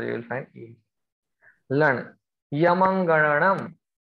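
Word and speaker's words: ञमङणनम्: Yamangananam. Ya ma anga nam. Yamangananam. Difficult to pronounce.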